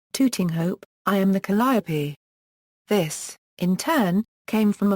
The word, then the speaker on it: Calliope: Vachel Lindsay, called the Calliope, in which Lindsay uses both pronunciations. However, in the song Blinded by the Light, written in 1972, Bruce Springsteen used the four-syllable pronunciation when referring to a